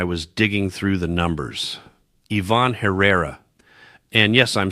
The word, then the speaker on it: Ivan Herrera: Ivan Herrera.